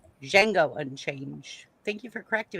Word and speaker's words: Django: The D is silent. Jango Unchained.